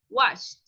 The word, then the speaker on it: watched: Esa ED suena como una T.